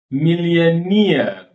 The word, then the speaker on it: millionaire: We cannot say all the syllables equally well. Employee. Employee. Employee. Engineer. engineer, engineer, millionaire, millionaire, unique, unique.